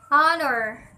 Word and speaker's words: honor: about the letter ha the letter is silent in the following examples honor honest our John oh ah 9